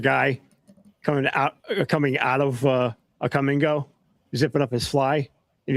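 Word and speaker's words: Kum & Go: No, we also have Come and Go, and it's spelled K-U-M.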